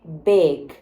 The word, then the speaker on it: big: tem que prestar atenção a pronúncia dessa palavra é Beg Beg como se fosse um e com acento circunflexo bag e quando eu digo